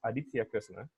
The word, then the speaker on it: Aditya Kresna: And okay, my name is Aditya Kresna, but the correct pronunciation is Aditya Kresna.